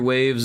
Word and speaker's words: Wave: Part of the reason why my studio is called Wave Games, although people pronounce it WAV because there's no E, and that's okay.